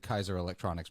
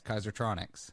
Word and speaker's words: Kaisertronics: from kaiser uh kaisertronics almost at kaiser electronics but that's not right it's kaisertronics close enough there you